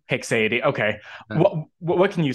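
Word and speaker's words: haecceity: probably okay I say I usually say hicksidi hexadee okay what can you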